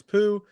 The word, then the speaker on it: Pugh: How do you pronounce her last name? Pugh? I think it's Pugh, but I'm going to start pronouncing it Pugh from now on. Pugh. I heard it in an interview pronounced Pooh once, and I was like, maybe really it is.